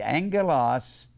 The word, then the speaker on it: angelos: It's merely a simple Greek word, angelos, two G's is pronounced NG, angelos, and it means messenger.